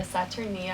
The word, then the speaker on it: Saturnia: thing that we're looking forward to is the saturnia hot springs is that how you say it